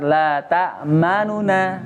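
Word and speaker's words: تأمنا: Lata ma, jangan ma-nya jangan ikut cepat. Ma-nya tetap satu harokat. Lata manuna. Lata ma.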